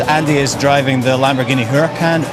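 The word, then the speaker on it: Huracán: is driving the Lamborghini Huracan urakan I believe it's pronounced which is our hero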